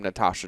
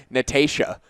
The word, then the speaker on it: Natasha: I almost want to be like Natasha. I can't even say it again. Say it how Canadians say it. Natasha. Natasha. So Natasha. Yeah. So Americans say Natasha and Canadians say Natasha.